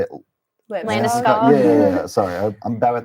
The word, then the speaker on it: Landeskog: Landeskog.